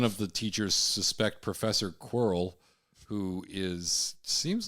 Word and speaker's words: Quirrell: It is Quirrell. Fuck. Yeah, Double Quirrell. R and It's like double squirrel. Like squirrel.